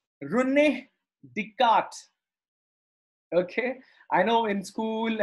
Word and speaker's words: René Descartes: Note down the pronunciation. René Descartes. Okay. I know in school and in so many places, people mispronounce this guy name, French mathematician, René Descartes.